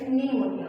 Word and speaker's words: pneumonia: it as pneumonia it's not pneumonia it's pneumonia okay you want be pronouncing the because it's before n and it's silent in the start of the word and then before